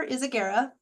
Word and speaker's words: Izaguirre: well again you'll you my name is is Agera I did not expect anybody to know how to spell that but if you go to the lighthous